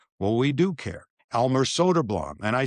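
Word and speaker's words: Söderblom: Arvid Solderblum is how it's pronounced in Chicago. It's Elmer Soderblam, who's since been moved on by the Red Wings, and they're brothers. Mhm. So, we've got it right because we asked Elmer, and I have him on tape saying it.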